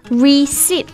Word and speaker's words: receipt: 还有账单收据这个单词叫做 Receipt. Yeah, Receipt. 但是它的拼写当中有一个 P 字母 R-E-C-E-I-P-T.